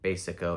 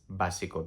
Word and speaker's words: básico: We're not saying basic and then basico, it's básico, because like I said before, there's no A sound.